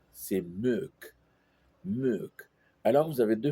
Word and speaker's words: môk: pardon, un autre o avec un accent circonflexe k puisque la voyelle est longue. Et ça se prononce meuk.